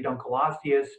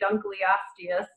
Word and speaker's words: Dunkleosteus: his honor and so here at Cleveland we say Dunkel osseous because of the name snake of David uncle I feel like you're mispronouncing someone's last name if you say Dunkleosteus so it does look